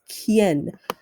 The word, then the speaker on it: quién: It's quién. Q arriba, grande. U, I, E con acento en.